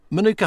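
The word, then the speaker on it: Mānuka: our purpose today okay so Manuka Honey is from New Zealand I notice you pronounce it slightly differently yeah so the so the a has a has a macron over it um in some spellings it can have two a's the idea is that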